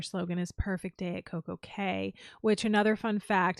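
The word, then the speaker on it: CocoCay: doesn't make sense either perfect day doesn't rhyme with Coco Key exactly it would have to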